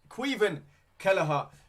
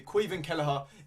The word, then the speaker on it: Caoimhin Kelleher: We have got Caoimhin Kelleher. It took me a while to know how to pronounce his name, but now I do. Caoimhin Kelleher in goal.